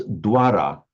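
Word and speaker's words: द्वार: And in fact, the modern Hindi for door, it would be written in the Devanagari with this V here, but because it follows a D, it would be pronounced exactly like a W, so it pronounces Dwara.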